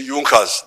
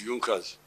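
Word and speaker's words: Junker: don't know this European they write junas but they say yunas the pronunciation is yunas these were I think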